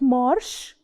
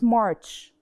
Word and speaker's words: March: third month is March March and the last sound is not Marsh it's March and then we have